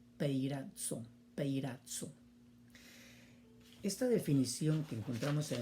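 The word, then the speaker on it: πειράζω: La pronunciación sería peirazo.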